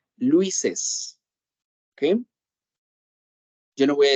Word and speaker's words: Luis's: La pronunciación en este caso va a ser Luises.